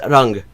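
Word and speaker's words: रंग: but it also exists in Hindi, where it's rang.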